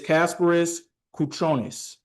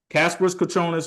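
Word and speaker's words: Kasparas Jakučionis: Kasparis his name pronunciation. It is Kasparis Kuchonis. So Kasparis Kachonis, ladies and gentlemen.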